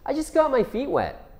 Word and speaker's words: I just got my feet wet: So, there are a lot of T's in this idiom. I just got my feet wet.